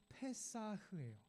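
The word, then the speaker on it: פֶּסַח: 절기 이름 유월절과 그 발음이 비슷합니다. 자, 유월절은 절기인데요. 유월절을 뜻하는 히브리 낱말은 페사흐예요.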